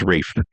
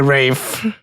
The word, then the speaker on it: Ralph: It's It's Rafe. That's how he said it's pronounced. Okay. Rafe.